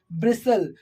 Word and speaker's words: bristle: as you can see castle castle castle bristle so what is happening here T is becoming silent but a star as